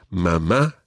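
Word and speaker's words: mamá: just one other thing we mentioned accents already mama and papa both have accents on the last syllable normally spanish words are pronounced on the second last syllable think of the word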